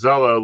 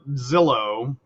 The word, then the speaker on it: Zello: because i heard was zello like the look up a house selling site no not zillow zello yeah like hello but with spelled with an h or with a z instead of an h ah yeah no ashley